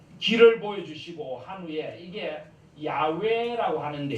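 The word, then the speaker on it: Yahweh: 같은겁니다 그래서 어 저 길을 보여주시고 한비야 이게 야외 애라고 하는데 조 이끌 짠 못 읽도록 알려고 점을 막 다른데 갖다 붙였습니다 그래서 나중에 사람들이 이걸 여호와 라고 읽었는데요 사실은 야외가 만나가 척의 지금도 야외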